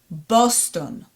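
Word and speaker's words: בוסטון: It's going to close our syllables, so it's going to be Bos, and then Tet, O vowel, and Nun, Ton. Boston. Boston. Does it sound familiar? Boston, right? In Hebrew we say Boston.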